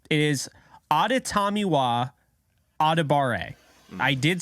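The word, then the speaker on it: Adetomiwa: maybe 0.1 of anybody talking NFL draft can pronounce correctly it is auditamiwa I did say that correctly because I have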